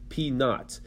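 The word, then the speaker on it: P₀: That's pronounced p naught.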